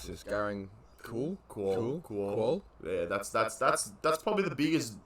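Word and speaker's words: Garang Kuol: You got to help me pronounce this. Garang Cool.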